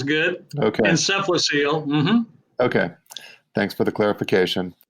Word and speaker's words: encephalocele: brother daniel who's 22 who has hydrocephalus and encephalocele if that's how you pronounce it that sounds good okay encephalocele okay thanks for the clarification sure let's start